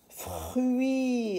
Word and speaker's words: fruits: Et, le petit E qui s'écrit ET, d'autres fruits. Alors ici, le T avec le S, on ne le lit pas.